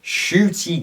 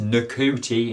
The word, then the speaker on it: Ncuti: It's not pronounced Ncuti, it's pronounced Ncuti.